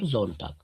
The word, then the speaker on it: Sonntag: That's why it is Zontag, Zamstag. After S we have vowel. So we have the sound Zamstag or Zontag.